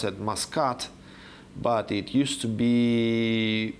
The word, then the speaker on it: Muscat: The capital of Oman today is pronounced as Muscat, but it used to be pronounced as it's considered to come from the Mosha root.